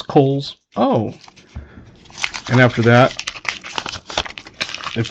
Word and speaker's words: Cowles: When I was a kid, it bugged me when everybody would say cowls cuz my name is C O W L E S and it's pronounced Kohl's.